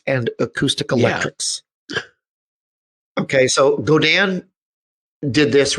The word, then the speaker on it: Godin: So Godin took a page out of Godin, I believe is how it's pronounced.